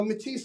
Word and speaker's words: Mattice: it but M or mat so you know matis I would say sounds like I like mati it's like stronger um people uh they say matis and I'm like you know let's go mati